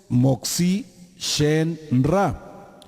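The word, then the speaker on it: Motzi Shem Ra: Después tenemos Moxi Shen Ra. ¿Sí? M mayúscula, O, T, Z, I, con acento en la I.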